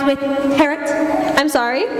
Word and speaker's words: Harriet: Harriet rhymes with Harriet. I'm sorry? It's pronounced Harriet. The I is silent.